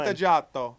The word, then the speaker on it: Vantaggiato: Vantaggiato. Vantaggiato? You gotta say it like an Italian, like you want a pizza. Like, give me a Vantaggiato.